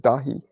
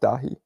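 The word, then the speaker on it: Dáithí: heard that from a few Irish people they pronounce it dahi David has pronounced dahi Patrick is pronounced poig I I know you're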